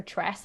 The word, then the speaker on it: Tress: Yeah, you say Tress, right? That's how you pronounce it. I believe so.